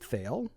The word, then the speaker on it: Thale: John has played in the first arc, played Thale, who Rhymes with quail.